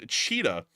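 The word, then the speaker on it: Chita: Moving on up into the area of cheetah. Y'all are not going to believe there's actually a city in Russia. The exact way you pronounce it is cheetah. Um which is like cheetah, you know, the animal.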